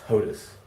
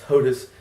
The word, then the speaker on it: HOTAS: forums right now it's hotus it's hotus it's hotus like hus hus it's president presid of the United States it's Hands-On throttle and stick it's not po us it's pus it's hotus is how you say